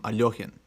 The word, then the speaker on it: Alekhine: able to yeah but apparently even that's like not like the way most russians grew up hearing his name is not actually the way he liked his name pronounced so he did like a hard k is what i've seen